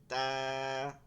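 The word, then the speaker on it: ت: হবে বা বা তা দুই নুক্তাওয়ালা দুইটা নুক্তা আছে উপরে আমরা দেখি খেয়াল করি তা এই জিহ্বাটা এই তালুতে লাগায় বলতে হবে তা না এটা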